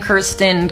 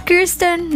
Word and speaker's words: Kirsten: The correct pronunciation, it's Kirsten, not Kirsten.